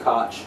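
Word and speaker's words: Koch: I think I think something um because you know we now have Steve Ko or Steve Cotch I think he's pronounced Cotch.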